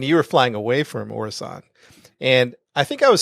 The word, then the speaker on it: Orison: How do we pronounce it? I think it's Orison. Orison. I was flying to Orison. I think I called it Horizon when I first played, but we were flying to Orison.